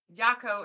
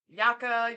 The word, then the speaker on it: Yako: Oh, he said Yako is pronounced like taco. Okay, Oh, okay, thank good to you. know. We calling him Yaka, Yoko.